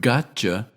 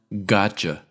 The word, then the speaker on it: gotcha: So when a form of you comes after T, the T is pronounced but not released, and the Y turns into ch. Both sounds should be clearly pronounced. For instance, the word gotcha isn't pronounced gotcha, but rather gotcha, gotcha.